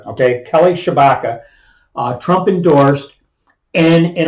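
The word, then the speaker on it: Tshibaka: I've heard it pronounced Chewbacca T s-h-i-b-a-k-a and I've heard it pronounced Chewbacca okay okay Kelly Shabaka uh Trump endorsed and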